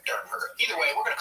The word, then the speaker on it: Derenberger: I thought it was Durenberger, but I did hear, I think in the interview that we're going to have some excerpts from tonight, I heard it pronounced Dernberger. It's spelled like it's Derenberg. It is spelled Derenberger, but I think it's Dernberger.